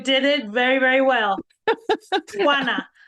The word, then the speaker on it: Juana: Juana. It's like Juana. you have something in your throat, you're trying to get it out. Juana.